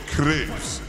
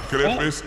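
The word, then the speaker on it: crêpes: concrete so it's Crepes right it's not crepis it's Crepes crepis it's crep yo I love Crepes right that's how you say it am I tripping it's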